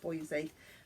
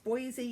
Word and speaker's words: Boise: I'm never sure how to pronounce it, but I think you pronounce it Boise. Yes, Boise in Idaho.